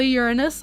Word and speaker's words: Uranus: But yeah, Sailor Uranus is my fave. That is how you pronounce it. I don't want any funny business in the chat, alright? All of you, calm down. I can feel your fingers typing away right now. It's Sailor Uranus.